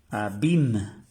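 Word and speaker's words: abîme: el acento circonflex quiere decir Isla IL se pronuncia IL IL y esta palabra también tiene el acento circonflex abim que quiere decir Abismo abim Abismo el Abismo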